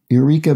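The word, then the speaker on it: Yreka: so it is y r e k a eureka bakery is there a town called eureka spelled with a y instead of an eu i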